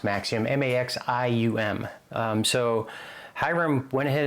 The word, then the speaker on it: Maxim: At least I think it's pronounced Maxim, M-A-X-I-U-M.